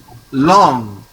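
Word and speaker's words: langue: How to pronounce it? It is long, long, long, long.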